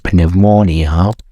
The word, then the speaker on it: pneumonia: Maybe pneumonia. So, pneumonia. Okay, this time. Oh, it's American. What about British? Pneumonia. Okay, at this time, British and American accent doesn't care about a letter P.